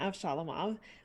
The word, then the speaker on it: Avshalomov: Hello, I play Konstantina Avshalomov, which is how you pronounce her last name, although NPCs often don't pronounce it correctly.